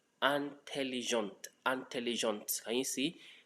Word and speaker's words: intelligente: Intelligent. Intelligent. Can you see? Again, last E in intelligent not pronounced.